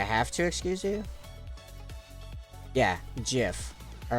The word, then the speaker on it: GIF: do this like the the inventor of the GIF said he pronounces it as Jif and you can't say